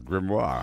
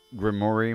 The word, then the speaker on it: grimoire: Yeah, grimoire. Quite an important clue filled with records of her vile conjurations. No doubt. I've been pronouncing that Grimmori my whole life.